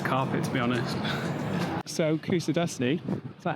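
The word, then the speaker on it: Kuşadası: So Kusadasi, is that how you say it?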